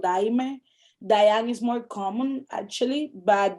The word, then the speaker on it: Dayang: So da, y, ang. So my brother's name is Diane.